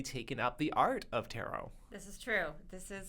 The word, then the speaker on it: tarot: this is even better we are looking at tarot or as David pronounced it terot yes you I've noticed a few people pronounce